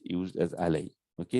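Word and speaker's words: على: Sometimes this is pronounced with the alay, with the ya, with the sukun, when it's connected with a pronoun. Otherwise, it's typically pronounced as ala.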